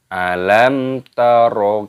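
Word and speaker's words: ألم تر: Perhatikan di sini ada tanda sukun pada huruf mim. Mim sukun bertemu dengan huruf ta, ini hukumnya dibaca idhar syafawi. Jadi tidak boleh didengungkan, harus dibaca jelas. Cara membacanya yaitu alam taro. Jangan didengungkan alam taro, tidak seperti itu.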